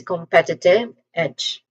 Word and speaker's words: competitive edge: That is competitive edge. Pronunciation wise, the first syllable com there's a schwa sound here.